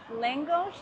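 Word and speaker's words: lángos: In the very first part of the tour, she directed us to the Langos, is how you say it.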